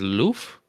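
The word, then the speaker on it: œuf: or goose egg and the French word for egg is Loof the pronunciation of which isn't too far removed from the English okay so we got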